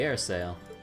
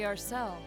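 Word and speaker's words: Arseille: the one right yeah the air sail ah you must be referring to his return aboard the arcel ourselves oh i've been mispronouncing it the whole time well then it's always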